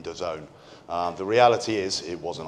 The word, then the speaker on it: DAZN: These letters, what is it? How do you say that kind of thing? It's DAZN. And the really cool way of thinking of it is if you're down with the kids, you're in DAZN.